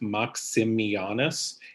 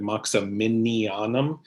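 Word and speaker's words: Maximianus: you were very close you added an extra syllable and latina's name is just maxim mianas and you said moxa minion so you had an extra in there so i could not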